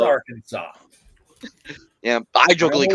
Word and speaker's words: Arkansas: state you guys get it right on is Arkansas. Arkansas. Kansas. Yeah, No! it's Damn it!